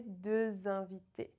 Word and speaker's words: deux invités: And here the X is usually silent, but because we have a vowel at the start of the next word, we need the liaison, right?